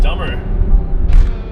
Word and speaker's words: Dummer: They're in the town of Dummer. I wonder if they pronounce it as Dumer or something. But it's spelled Dummer, D-U-M-M-E-R.